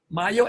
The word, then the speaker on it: Mayo: Mayo, M-A-Y-O? Yes, sir. Yes, sir. Oh, okay. You know, that's an American family name, and it's pronounced Mayo.